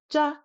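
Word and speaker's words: ཇ: We have ja, ja, ja, absolutely no flutter whatsoever.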